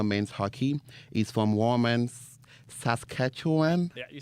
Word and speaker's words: Saskatchewan: He's from Warman, Saskatchewan.